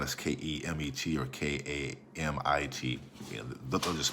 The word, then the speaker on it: Kemet: comes out as kmt there were no uh vowels vowels uh folks should do that type of work insert vowel so we can pronounce it so it's oftentimes pronounced as k spelled as k-e-m-e-t or k-a-m-i-t you know